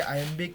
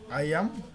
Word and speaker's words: iambic: এরপর হচ্ছে আমি একটু আগে বলছিলাম যে আইএমবিক পেন্টামিটার, এখানে আইএম বিষয়টা কি, আমরা যে বলতেছি আইএমবিক, এই আইএমবিক বিষয়টা কি, অর্থাৎ আইএমবিক যেটা, এটার উচ্চারণটা হচ্ছে আইয়াম, শেষে বটা উচ্চারণ হবে না, বিটা।